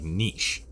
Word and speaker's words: niche: I've always heard it pronounced like niche. Like quiche, you know?